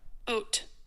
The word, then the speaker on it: haute: It is often used in terms like haute couture, high fashion, and haute, oh, sorry, I keep saying the H.